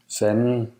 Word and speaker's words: Fanden: D is also not pronounced after L or N or before T or S. For example, En alder. meaning an age, Fanden.